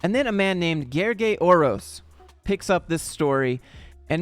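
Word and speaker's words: Gergely Orosz: The L is silent, okay?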